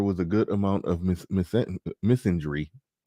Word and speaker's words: misandry: a good amount of misinjury. I always say it like misandry. Misinjury is how it's supposed to be said. Like I'm saying Miss Ann.